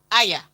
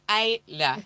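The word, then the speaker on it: Ajla Tomljanović: Yes, so Aya is Ayla. So she's originally from Croatia, but she grew up in Australia. So yeah, but she grew up in Australia. So you still pronounce her name in the European way.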